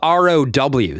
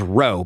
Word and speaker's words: row: It's spelled R O W. So if you read it, you'll think it says row, but it's pronounced row.